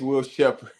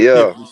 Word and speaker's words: Will Shepard: So it is Will Shepard, not Yeah, Shipley Shepard.